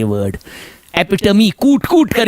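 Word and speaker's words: epitome: नो, एपिटोम नहीं है ये। यस, इट्स एपिटमी। इसका जो बेसिक प्रोनाउंसिएशन है एपिटमी।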